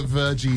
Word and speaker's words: Virji: And genuinely, I was just checking the pronunciation of his surname. I just went, it's Virji, isn't it?